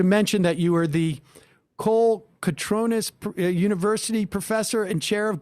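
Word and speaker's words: Kolokotrones: gave the uh award and their name is pronounced Kola katronus like phonetic okay well uh fantastic thank you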